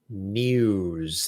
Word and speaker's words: news: actual wall that said Don't Say No o s or no o o z everybody is supposed to say news that's the proper way to say it Eyewitness News see a